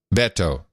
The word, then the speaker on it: Beto: notice something about Beto I know how to pronounce it now it's Beto Beto yeah it's like saying Roberto you just dropped a row and the earth Beto